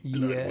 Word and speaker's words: Bloodwynd: spelled like BLOODWYND. Bloodwind. Yes.